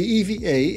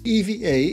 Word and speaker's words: EVA: Today's flight is a 5-hour flight from Jakarta to Taipei in Taiwan with EVA Air, where the EVA is pronounced as EVA, not EVA.